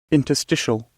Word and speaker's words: interstitial: feel like I copied it copy past yes interstitial interstitial interstitial intertial okay to presence of intrusive